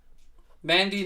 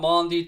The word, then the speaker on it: Mendy: Mendy, not Mondi, don't care.